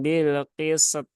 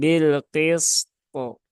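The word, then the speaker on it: بالقسط: Nah, maka jangan bil qisat ya. Nah, itu nggak cocok ya, nggak cocok itu kan. Tapi dia harus ditunaikan dulu sinnya ya, sin yang rokhawah, kemudian to yang syiddah. Nah, harus ditunaikan terlebih dahulu agar ya sesuai dengan cara membacanya begitu kan. Jadi bukan bilqis ya, tapi bilqisto, bilqisto.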